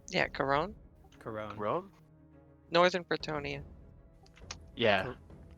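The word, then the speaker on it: Couronne: more specific where that is I must have mispronounced it it's uh uh c o u r o n n e yeah coron coron coron Northern pronia yeah Corone is the capital pronia you wouldn't be asking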